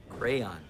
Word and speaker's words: crayon: crowns crowns this is a crayon yeah crayon two syllables okay this is an